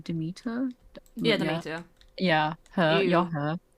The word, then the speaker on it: Demeter: I always forget how to pronounce the name. Demeter. Yeah, Demeter.